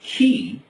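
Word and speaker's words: chi: by the following letters the first CH I pronounced key stands for 600 the second a big X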